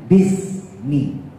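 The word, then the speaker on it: بسم: Untuk memudahkan cara baca ya menjadi bismi ya, maka lafaz bi ismi menjadi bismi, alifnya dibuang bismi.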